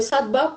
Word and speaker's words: sattva: modalidad a la cual todos apuntamos que es sattva, sino que lo pronunció sattva por efectos de pronunciación en el español.